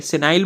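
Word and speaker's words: senile: फिर नेक्स्ट है यहाँ पर सिनील, ठीक है, सिनाइल बोल सकते हो, सिनील इसका करेक्ट प्रोनाउंसिएशन है।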